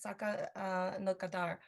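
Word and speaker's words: Saka Nakodar: Item 216 is the retroactive approval of Saka Nakadar International Global Awareness Day. I'm sorry if I mispronounced that. Councilmember Ranch? Oh, you almost had that correct. It's Saka Nakadar.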